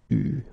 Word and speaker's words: eu: Okay, you write it like that, but you pronounce it eu.